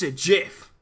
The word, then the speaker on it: GIF: Do you pronounce it with a hard G or with a J sound? You asking me? Yeah. I pronounce it with a hard G. It's a GIF.